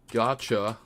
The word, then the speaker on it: gacha: This game kills me because it is gacha. What rhymes with gotcha?